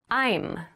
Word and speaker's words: I'm: much for the invitation i'm i'm i'm so i'm is the reduced form of i and am becomes i'm make sure to clearly pronounce that m sound like when you're introducing